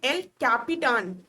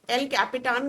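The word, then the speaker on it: El Capitan: तो यूएस का जो सुपर कंप्यूटर है इसका नाम है एल कैपिटान। स्पेलिंग में कैप्टन नहीं है, एल कैपिटान कर है।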